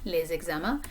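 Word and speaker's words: les examens: that homework okay so notice the liaison here between les and eczema les exama okay so i don't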